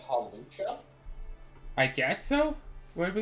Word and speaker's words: Hawlucha: So what is it that we need to find Hawacha and something. Oh, watch out? What? In order to make the Brick Break TM. Are you saying Hawlucha?